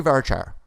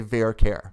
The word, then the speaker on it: varchar: I say varchar but some people say verare. That's fine. Rhymes with car bear right.